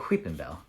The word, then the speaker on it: Weepinbell: Weepinbell. That's how you say it. You say it Weepinbell. What do you why would you say it any other way?